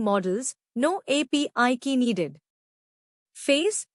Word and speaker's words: FAISS: LangChain Hugging Face gives us free, local embedding models, no API key needed. Face, pronounced face, is Facebook's vector search library, fast, free, runs locally.